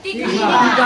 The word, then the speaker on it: तीखा: तो वो तीखा है कि तीता है? तीखा है। तो प्रोनाउंसिएशन थोड़ा ठीक ठाक कीजिए।